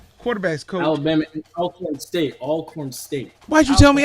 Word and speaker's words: Alcorn: would be alcorn as well alcorn not alcorn alcorn oh lord come on now gotta get it right before the show you if you go if you're going to say it you're going to say it right it's all corn all right i just